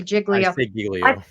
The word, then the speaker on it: Giglio: let's just talk about Giglio and I pronounce it Giglio I've heard other people say jiggly I pronounce that Giglio they're siglio anyway we always call it Giglio I don't know if